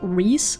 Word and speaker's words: Reese: I've been saying Rice ever since I started playing last year, but I had people tell me that Reese is also an option, so if I keep